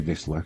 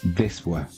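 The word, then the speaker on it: Wisła: And Wisla, shouldn't say Wisla because that's not how it's pronounced. It's Wisla.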